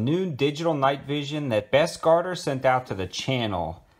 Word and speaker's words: Bestguarder: video on some new digital night vision that best garter sent out to the channel uh that is how you pronounce their name and they actually have a